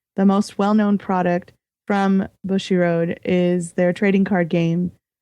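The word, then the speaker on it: Bushiroad: Bushy Road.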